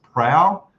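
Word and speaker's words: Prao: a place called and I think it's pronounced prow p r a o uh again beautiful Scenic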